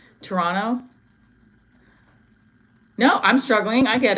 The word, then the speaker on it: Toronto: The second T is silent. Toronto.